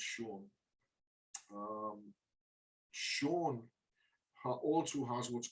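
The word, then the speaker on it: Saun: can't pronounce his surname, Sean spelled S-A-U-N, but it's pronounced Sean.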